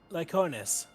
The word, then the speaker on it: Lyconis: You're in charge of the Lyconis, I believe. Where are they I now? think it's pronounced similar to the word lichen.